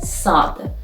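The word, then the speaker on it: صاد: for example means night the seventeen letter is sad which is pronounced si for example like soap in english and the form at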